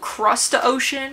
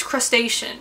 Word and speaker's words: crustacean: It's called crustacean. I'll put it right here. Go about pronouncing it. Crustacean. You do want to stress on the second. That's wild that I said crustacean. It's crustacean.